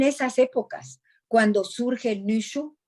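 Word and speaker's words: Nüshu: Entonces, es en esas épocas cuando surge el Nushu, se escribe N-U con diéresis y Z-H-U, ese Nushu.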